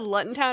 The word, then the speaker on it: Luton: Like, even like this year, I think I only have to do, I think it's pronounced Luton Town. I forget what Tom told me, because I called it Luton Town originally.